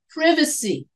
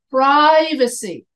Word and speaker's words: privacy: talking about English pronunciation in British English I would say privacy in American English I say privacy so here the Brits the British people they put the accent on the VA and we Americans we put the accent on the pro as in privacy Pride I the C